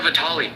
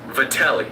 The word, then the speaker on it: Vatelli: First of all, that is not how you pronounce my last name. To everyone who doesn't know, it's Vatelli.